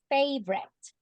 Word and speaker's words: favorite: I'm gonna tell you Favorito in English has two syllables and the correct pronunciation is favorite favorite that's the correct